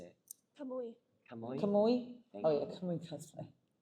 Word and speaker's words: Kamui: Kamui.